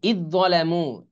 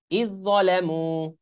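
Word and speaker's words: إذ ظلموا: আর ইদ যালামু, এই যে এই দালের উচ্চারণ কিন্তু আসবে না, এটা লেখায় আসবে কিন্তু উচ্চারণে আসবে না। আলিফ আলিফ দাল যে ইজ, দর উচ্চারণ হবে, ইদ যালামু।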